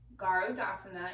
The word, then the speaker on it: Garudasana: to do Eagle pose now Eagle pose is pronounced garde asana in sanskrit and it is one of the